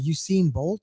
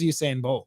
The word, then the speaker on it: Usain Bolt: What was that one guy that ran uh Essene Bolt or something like? What was that about him? His name was Usain Bolt.